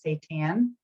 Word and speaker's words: seitan: Now we are going to move into seitan, or I pronounce it seitan, but I think the real pronunciation is seitan.